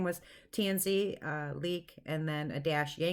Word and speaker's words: Tansi: airport in Detroit and my name is tansy and it's spelled ta and si so people say it many different ways tan site and CT and Z several different ways and I had a